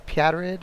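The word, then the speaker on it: Pjätteryd: It's spelled PJATTERYD. I guess it's Pjatterid or something like that.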